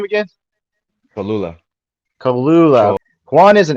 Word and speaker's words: Cholula: Cholula.